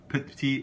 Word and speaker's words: petit: Petit we typically pronounce as petit, often sounds just as T.